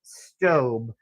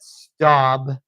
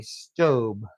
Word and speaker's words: Staub: It is, in fact, pronounced stove. I got that directly from their website where I heard them pronouncing it. So even though a lot of people call it staub, it is, in fact,